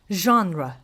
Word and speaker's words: genre: Lots of learners have a hard time saying this because it is derived from French. This is genre.